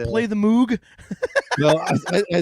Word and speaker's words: Moog: It is Moog. It is not Moog, even though it's spelled Moog.